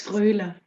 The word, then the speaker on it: Froehler: How would you pronounce it? It's Froehler, but it's all perfect.